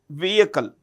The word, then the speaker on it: vehicle: The H in vehicle is silent. So we say vehicle polar satellite launch vehicle.